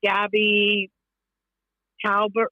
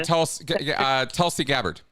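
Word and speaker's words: Tulsi Gabbard: a lot and he just had um uh Gabby Calbert what's her name I I'm just saying her name wrong the she's from Hawaii and oh Gabby telsy gabard yeah there you go yeah and they're alluding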